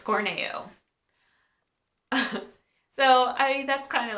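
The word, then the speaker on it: Corneo: don't we haven't met yet definitely said Don cornea did anyone else say Don cornea well it's Corning you so I that's kind of like reality setting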